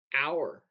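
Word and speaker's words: hour: word fine f i n e the E is silent oh yeah fine and um our oh you h o r the H is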